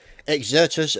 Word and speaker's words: Exertus: casting exertus yes we now know how to pronounce it exertus versus brutality on Dawn breaker so looking forward